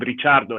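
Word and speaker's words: Ricciardo: there's Danny I mean in Italy they call him richardo his surname is Italian richardo but I know they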